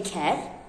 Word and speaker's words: ker: So for example, when you say ker, which is with short E, it means donkey, ker.